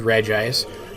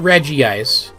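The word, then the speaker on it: Regice: on registeel all right this one is called regis not reggie ice there's just one eye there for once i'm actually 100 sure i'm right about how to pronounce the thing it's just regis and it's 511 it's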